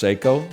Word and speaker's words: Seiko: It's a Psycho cocktail time. You might say it's pronounced Seiko, not when I wear it.